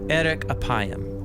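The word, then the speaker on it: אֶרֶךְ אַפַּיִם: in Hebrew the phrase slow to anger is pronounced Eric aayam or literally long of nose but what does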